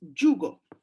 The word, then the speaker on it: jugo: one for Turks especially, because this is the J sound, J, and it's jugo. Jugo means game. So in Turkish, this sound has the letter C. We don't have the letter C here because we have this DJ as J sound, jugo.